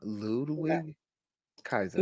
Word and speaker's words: Ludwig Kaiser: it I'm gonna try to say his name Ludwig Kaiser yeah yeah you got it yeah or other